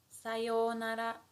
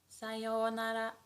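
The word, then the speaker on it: さようなら: And how we pronounce it is sayonara, sayonara, sayonara.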